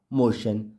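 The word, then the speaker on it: motion: आई ओ एन मोशन तो यह तो फ्रेंड्स हमने अभी भी देखा था कि जब भी वर्ड के लास्ट में टी आईओ एन होता है तो टी आईओ टी आई ओ एन को शन के रूप में पढ़ा जाता है अब हम देखेंगे कि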